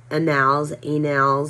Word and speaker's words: annals: It's A-N-N-A-L-S. So I know it's not A-N-A-L-S, but annals, they conspired against him in Jerusalem and he fled to Lachish.